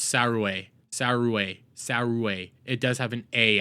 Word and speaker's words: Saruei: The name Saruei is likely pronounced Surua. Well, it's A, so she does have an A at the end of it, so it's Saruei.